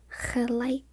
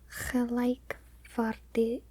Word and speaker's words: gelijkwaardig: wrote it down, but I do remember being surprised at how hard the K was in the middle.